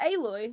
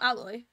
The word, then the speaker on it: Aloy: let's let's fast travel aloy oh is it aloy not alloy damn in in all games they just make you pronounce it the completely opposite way that you think it is like I said the